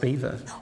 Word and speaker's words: Belvoir: So, to me, it seems it's spelt Belvoir but pronounced Beaver.